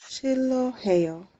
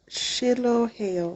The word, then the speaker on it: 싫어해요: Uh, let's say for now, like it doesn't have any sound. So just ignore it. So let's think there's only L bottom letter and pronounce it like 싫어하다. 싫어해요. Can you read that? Shiloheo.